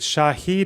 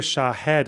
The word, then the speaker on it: Shahed: Is it Shahid or Shahed? I've heard it pronounced both ways. I'm confused. The drones are Shahed, I'm pretty sure.